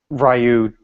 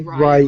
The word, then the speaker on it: Ryu: Say Ryu instead of Ryu.